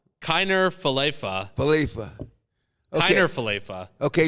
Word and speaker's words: Falefa: Also, the proper pronunciation for our Jays' new third baseman. Falafel? Kiner Falefa. Falefa.